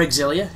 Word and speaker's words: Xillia: a balls deep of tales of zelia or exilia if you say it like that which some people do this is the taale